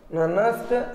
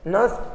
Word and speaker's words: Nernst: Spelling NERNST होता है, बट वो जब हम पुकारते हैं तो उसमें इस R का लोप होता है ना। नस्ट इक्वेशन भी बोल सकते हैं, ननस्ट इक्वेशन भी बोल सकते हैं।